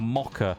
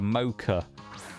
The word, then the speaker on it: mocha: handy BRB going to make a a mocka as we call it or a mocha as uh as you American folks call it a mocha we call it a mocka cuz uh we don't pronounce O's like that in most words um got a fancy